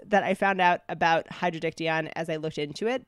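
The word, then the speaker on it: Hydrodictyon: it up and it's actually called hydrodiction I think I'm pronouncing that right Hydro is water diction is nut so water net and of course I'm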